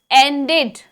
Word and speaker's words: ended: Then next is ended. Ended. Ended. 2 syllables.